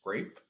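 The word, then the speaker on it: CREP: replication and education project you pronounce it as grape um like the fruit and in 2019 uh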